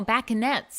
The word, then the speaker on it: bacchantes: Oh, bacchantes. Okay, it's like Bacchus.